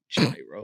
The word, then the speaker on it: gyro: was your order uh I got a gyro and yes I'm I'm pronouncing that right gyro but chicken or yeah